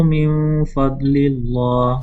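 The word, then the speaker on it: min faḍlillāh: Wabtagu, baca lagi, wabtagu min fadlillah. Oke. Ingat kalau kasroh sebelum Allah itu bacanya muraqqaq ya.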